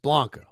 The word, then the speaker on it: Blanco: Krabs can't be correcting pronunciation. I think he said Ronel Blanco. It's Blanco.